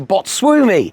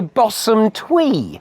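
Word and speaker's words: Bosumtwi: straight that I realized it wasn't the Botswumi, it's a Bosumtwe. I got me syllables wrong.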